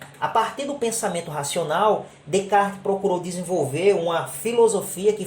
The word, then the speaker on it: Descartes: A fim de que venhamos escoimar toda qualquer espécie de estranhamento, é importante dizer que se escreve Descartes, mas se pronuncia Descartes.